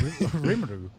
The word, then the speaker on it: Rimuru: I did little not pronounce that plushie. correctly. Rimuru.